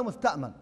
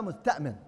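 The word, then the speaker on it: مستأمَن: نعم، إذا جاءنا قلنا نبغاك تأمننا أنك ما تقتلنا ما تفعل، غير صحيح هذا الكلام، فتنطق من الشائع أنه يقال ولا مستأمن، والصحيح ولا مستأمن.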